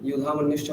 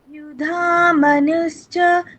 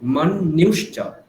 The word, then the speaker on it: युधामन्युश्च: युधामनुश्च विक्रान्त হ্যাঁ, এখানে দেখুন, দেখুন আপনি কি বলছেন? युधामनुश्च, এটা বলছেন, কি হবে দীপান্বিতা ম্যাম, কি হবে? मनुश्च হ্যাঁ, মানুষচ বলছেন আপনি, মন্যুশ্চ। ওখানে আপনি জাস্ট একটুখানি চেঞ্জ করে এটা ভেবে নিন, তাহলে এটা হয়ে গেল।